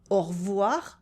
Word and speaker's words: au revoir: Merci, au revoir, I cut the E in revoir, bonne journée.